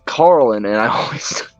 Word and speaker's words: Carlin: right is yeah Carlin I always say Carlton I like like freaking from freaking uh what was it uh press prin Blair I always mispronounce it and say Carlton and it's Carlin and I always it's